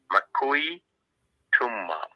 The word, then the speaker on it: Makui Tumma: So the pronunciation of the name, as it was told to me, is Makui Tumma.